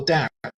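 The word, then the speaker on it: Daath: So sometimes on a Tree of Life diagram, you'll see a dotted circle placed here, called Darth. Now, Darth means knowledge. Darth means knowledge, or doubt, sometimes it's pronounced.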